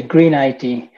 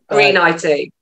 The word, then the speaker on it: greneIT: actually, via Robin's business, greneIT, or do you say greneIT? How do you say it? I say greneIT. greneIT. Yeah, it sounds green. It's the old English green.